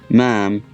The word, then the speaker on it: ma'am: often contracted to ma'am pronounced mam in american english and mum in british english the term derives from